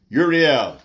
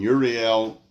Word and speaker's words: Uriel: Uriel, in Hebrew, I think it's more correctly pronounced Uriel.